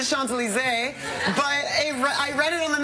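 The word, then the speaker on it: Champs-Élysées: me how to get to the champion was he really pronounce it is the Sean's alizée but I read it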